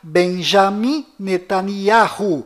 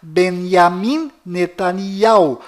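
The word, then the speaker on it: Binyamin Netanyahu: bom Voltando ao assunto fora de Israel o nome deste primeiro ministro é pronunciado Benjamim netan mas dentro de Israel o nome dele é pronunciado benyamin netania confira fora dentro fora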